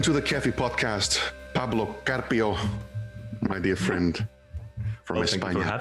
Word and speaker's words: Carpio: Welcome to the Kéfi Podcast, Pablo Carpio, my dear friend from España.